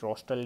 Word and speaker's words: rostral: Rostral means rostral is, just remember it, rostral is rhyming with like nostril, so it will be anterior to that.